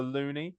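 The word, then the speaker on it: loonie: which I believe is pronounced the loony, if I'm correct.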